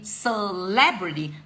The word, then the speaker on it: celebrity: be my favorite celebrity celebrity the stress is given on the second syllable is stressed one so to say celebrity I get celebrity well when it comes